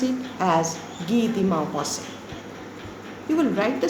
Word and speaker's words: Guy de Maupassant: will pronounce it as Guy de Maupassant. You will write the spelling as it is, but the pronunciation will be different. That will be in French.